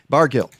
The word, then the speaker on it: Bargil: And now you have people like Ari, and I forget, is it a soft G or a hard G, Ari? It is a hard G. Bargil.